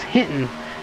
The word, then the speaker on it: Hinton: be your caught in the Hilton it is Hinton and the 42 suspects